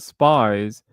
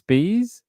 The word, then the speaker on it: Spees: how to pronounce it so it's not spies it's Spees Spees okay they must be